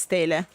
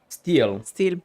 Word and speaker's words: stele: Because in Italian it's stele, but I don't think it's... Steel, okay. A steel that the bandits were protecting with their lives.